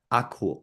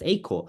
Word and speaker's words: Akool: So for example, if I do Akool, they'll read it as Akool, even though we like to pronounce it as Akool. So when you're typing it, one advice I could give is, instead of doing Akool, do A space cool.